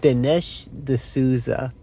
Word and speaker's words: Dinesh D'Souza: I think it's Dinesh D'Souza. And that's how you pronounce his surname.